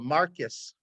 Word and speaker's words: Marquis: side to follow the Marquis of Queensbury rules do you guys know what the Marquis of Queensbury rules are they were created in Great Britain and there they're pronounced the Marcus of Queensbury these are the original